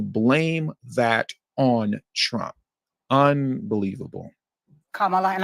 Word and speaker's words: Kamala: that on Trump unbelievable Kamala and I'm calling you Kamala because for all of those who are mispronouncing it I want you all to know how to say it shut up it's worth